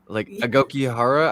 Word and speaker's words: Aokigahara: Okay, so I was trying to figure out how I could say the correct name, but it's the Aokigahara suicide. Yeah. You said it right. It's the literally the hard word, Aokigahara.